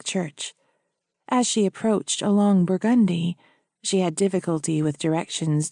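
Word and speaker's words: Burgundy: As she approached along Burgundi, she had difficulty with directions due to the unusual New Orleans pronunciation with an accent on the second syllable.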